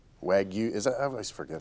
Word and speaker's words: Wagyu: Wagyu. Is that I always forget how to say it. I always Drives me crazy. Wagyu. Wagyu.